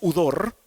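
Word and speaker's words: ὕδωρ: Viene de un vocablo griego que se pronuncia udor, y Efesios 5, 25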